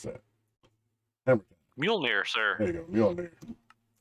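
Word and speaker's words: Mjölnir: It's not quite, don't know how to pronounce that. Hammer. Mjolnir, There sir.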